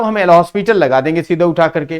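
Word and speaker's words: L'Hôpital: एल हॉस्पिटल, कुछ लोग हॉस्पिटल कहते हैं बेटा, कुछ लोग हॉस्पिटल रूल कहते हैं इसको। तो हॉस्पिटल या हॉस्पिटल दोनों एक ही चीज है। एस साइलेंट कहते हैं होता है, लेकिन ऐसा हुआ नहीं, एल हॉस्पिटल ही बोला जाता है बेसिकली।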